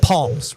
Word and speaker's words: Psalms: Well, it's not the book of Psalms, it's the book of Psalms with an S. Just because there's a P after the S doesn't mean that that's how you say it.